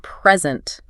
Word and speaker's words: present: Like, for example, the word present can be a noun or a verb. Yeah. Right? And the stress changes depending on which one it is. Oh, I see. If you stress the first syllable, it means a gift. Okay. But if you stress the second syllable, it means to give something.